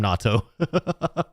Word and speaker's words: natto: NATO versus natto? I think NATO is very differently pronounced from natto.